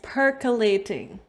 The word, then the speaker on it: percolating: Percolating. There we go. That's how you pronounce it, everybody.